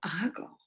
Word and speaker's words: hago: Yo hago. Yo hago. Mhm. Yo hago. And the most important thing just is to remember the H is silent on this one.